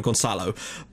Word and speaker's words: Gonzalo: As for Gonzalo Paciencia, I don't, like, I was told how to pronounce his first name, which is fine, Gonzalo, but I'm still not